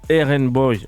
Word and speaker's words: RnBoi: très content de t'avoir RN boy qu'on prononce du coup aen boy au cas où parce